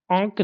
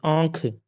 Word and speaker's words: आंख: हमारा उच्चारण गलत है आंक नहीं आंख ठीक है अब उसी तरीके से